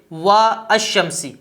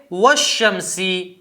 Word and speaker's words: والشمس: یہ حمزہ تھا ہمارے پاس، ٹھیک ہے۔ جب اس سے پہلے ہم نے واو لگائی تو یہ حمزہ گر جائے گا، لکھا تو جائے گا لیکن بولا نہیں جائے گا، تلفظ نہیں کیا جائے